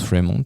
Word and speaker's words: Fremont: Et c'est un film qui s'appelle Fremant. Alors, je pense que c'est Fremant, ça se prononce Fremont malgré mon accent pourri.